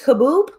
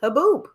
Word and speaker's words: haboob: So how do you pronounce this? Haboob, right?